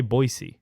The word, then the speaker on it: Boise: is nice Boise wait why are you guys all saying boisey boisey people from Boise people from there say boisey really it's how you